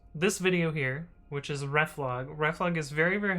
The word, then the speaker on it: reflog: Uh it took me a really really long time to not pronounce it as Reef because um that was how I pronounced it inside my head. Um but then somebody pronounced it out loud and I realized that I was a bit of a dummy.